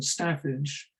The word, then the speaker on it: staffage: I've said that there is this great focus on what Hannah Williamson, the curator, calls staffage, or she says as an alternative northern pronunciation, staffage, the little people, the people who've made history and yet are seldom recorded in it.